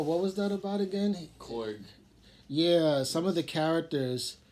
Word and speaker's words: Korg: But then Korg got the whole headset on. Yeah. Everything. I'm like... You didn't like Korg. Well, how you say his name? Korg or Kor? It's Korg, man.